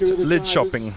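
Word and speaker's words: Linköping: n g okay pronounced lid shopping lid shopping K is pronounced with a sh interesting yeah so get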